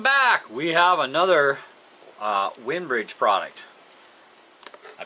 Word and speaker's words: Winbridge: it going welcome back we have another uh windbridge product i pronounced that right yeah winbridge we're doing good today all right yes we're